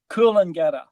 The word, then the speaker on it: Coolangatta: Coolangatta.